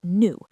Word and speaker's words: nous: Yes, for first person plural, we, the pronoun in French is nous, n o u s, as in nous mangeons des pommes, we are eating apples.